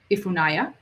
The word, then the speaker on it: Ifunaya: great great questions um tell me how to pronounce your name again ifunaya is that correct uh yes you said it right okay great i just